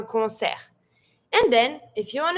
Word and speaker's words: concert: same word but careful in French we don't pronounce the t so we're going to say and you stop at the r concert and then if you